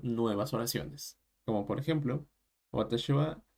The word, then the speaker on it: は: el caso de deimen la partícula Wa se pronuncia pues como el gir gana de Wa y no como el jir gana de Ja Con el cual se